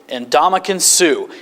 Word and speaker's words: Ndamukong Suh: Here's how you pronounce it. Ndamukong Suh.